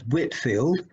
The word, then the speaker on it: Whitefield: tell you about george whitfield george whitefield spelt with an e but usually pronounced as whitfield was born on 16th